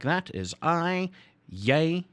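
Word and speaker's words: jy: like that is i yay pronounced like that is you owns pronounced like that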